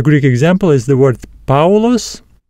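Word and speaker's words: Παῦλος: next dong is a it sounds similar to the word Mouse ow Mouse the Greek example is the word paos paos meaning Paul and the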